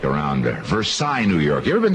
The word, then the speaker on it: Versailles: You've mispronounced the name of one of our Western New York communities. Oh, come on. V E R S I L L E S. Versailles New York.